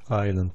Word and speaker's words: island: Island diye okunuyor.